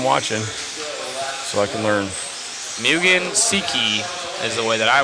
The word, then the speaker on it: Mugen Seiki: be learning I'm watching so I can learn Mugen Seiki is the way that I was learning to pronounce it thank you Matt I appreciate you